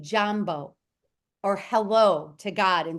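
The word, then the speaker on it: Jaambo: down the word Jambo it sounds it's spelled just like it sounds j a a m b o Jambo hello it is a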